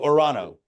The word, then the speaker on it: Toronto: and strict with that I don't pronounce either the first T I go orano we're going to orano fine all right back